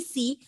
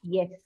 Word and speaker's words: S: Okay, it is M, it is N, O, it is S, not Yes.